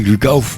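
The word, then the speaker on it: Glück auf: Aujourd'hui, ils ont proposé un album qui s'appelle Gluck auf, alors qu'on devrait prononcer, Rodolphe, comment on prononce? T'as très bien fait, c'est Gluck auf.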